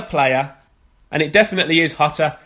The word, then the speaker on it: Jota: it definitely is hotter it's not jata or jota or yatta or yatta you pronounce it with the h out so they do it in Spain I've spoken to my sources over there it is hotter 100% and get to